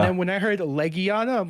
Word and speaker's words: Legiana: I didn't know it was pronounced Legiana, and I actually went with a completely different pronunciation for that name that I a see. friend had taught me, which was, get ready for this, Hmm? Legiana, Okay.